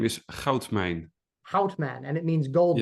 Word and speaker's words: Goudmijn: say his last name his last name is hman hman and it means Gold Mine correctly and